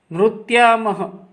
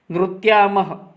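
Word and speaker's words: नृत्यामः: When Visarga sign is there, we have to pronounce as a ha. But when it is writing, we have to write as two dot, Visarga. Nrutyamah.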